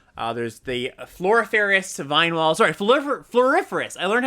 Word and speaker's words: Floriferous: Sorry, Floriferous. I learned how to pronounce that today.